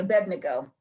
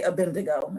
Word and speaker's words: Abednego: Let me just say his name is Abednego. And most people call him Abednego, but it's Abed. Abbe D. There's no N. A B D then the N. Abed Nego. Abednego. That's his name. I'm just saying in case you y'all want to preach on him, can you please say his name right? Because I can't stand when I hear a pastor say Abindigo.